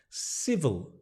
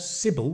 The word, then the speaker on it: civil: Civil. It's a V. Civil. Civil meaning polite. Civil. Civil. Not Sybil, which is a name, but civil.